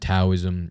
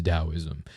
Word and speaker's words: Taoism: how you spell it it should always be pronounced with a d sound so it isn't taoism it's taoism if someone says taoism